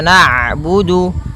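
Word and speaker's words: نعبد: Kemudian ada huruf ain yang berharakat sukun. Ketika huruf ain berharakat sukun, ain itu punya ee punya sifat namanya bainiah. Yaitu bacaan di antara syiddah dan rakhawah. Kalau syiddah suaranya tertahan. Kalau rakhawah suaranya mengalir.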